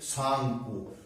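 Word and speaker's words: Tsangpo: सांगपो की जो स्पेलिंग है ना, इसमें ये टी साइलेंट है दोस्तों, तो इसमें क्या होगा, ये सांगपो।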